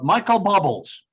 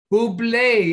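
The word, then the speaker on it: Bublé: his name is uh michael bubbles michael bubbles bubbles michael bubbles bubbles oh you mean michael buble michael buble jublay yeah that's how he pronounces his name how the hell fancy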